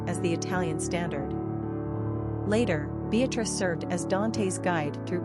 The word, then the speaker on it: Beatrice: it remains a top 20 favorite girl's name, pronounced Beatrice in Italian.